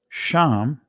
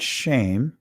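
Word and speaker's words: שם: see reputation Glory okay so sham I'm saying it from the ancient he break pronunciation not shame right Sean it could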